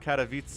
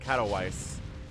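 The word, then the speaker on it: Katowice: When I first learned about Katavitz, the tournaments and the esports scene, I called it Katawise because I am an American. It is my great shame. But I learned and I grew and I think I pronounce it right now.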